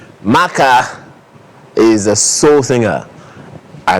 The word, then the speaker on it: Maka: And I'm like, if it's Maka, then it would be an ER, right?